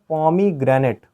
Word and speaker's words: pomegranate: इसको देखिए पढ़ने का सही तरीका क्या है, इसको पढ़ते हैं पॉमीग्रेनेट।